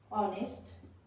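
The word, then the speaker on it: honest: जैसे ऑनर, ठीक है, ऑनर, ऑनर नहीं बोलेंगे इसको, honour, H ओ यू आर, आवर, आवर, ऑनेस्ट, एच ओ एन ई एस टी, ठीक है, ऑनेस्ट। यहां पर ओ से पहले एच आया है तो एच हमारा साइलेंट हो गया है।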